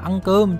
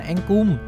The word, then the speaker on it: cơm: Đoạn hội thoại tôi nghe lén được có một câu như thế này: sai rồi, phải đọc là ăn cơm chứ không phải là ăn cùm.